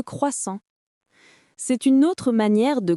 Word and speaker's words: croissant: La prononciation correcte est croissant, pas croissant, pas croissant, juste croissant. Un son simple mais typique du français.